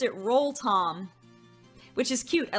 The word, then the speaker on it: Rotom: That maybe I would have the one and only Absol, who answered the question today about Rotom, or Rotom, that they pronounced it Roll-Tom, which is cute, I like it.